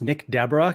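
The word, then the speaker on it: Nick Desbarats: yeah so so you are correct that is pronounced Nick Deborah congratulations you got that one correct it's not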